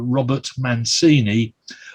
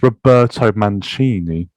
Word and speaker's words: Roberto Mancini: 2011, Manchester City manager Robert Mancini learnt a painful lesson. You've pronounced that very wrong, but I'll let you have it. It's Roberto Mancini.